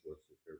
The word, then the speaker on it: Worcestershire: It's one of those words that I think I say it different every single time I pronounce it, and I'm never confident which is the correct way. It's Worcestershire, but you can say Lee and Perrin.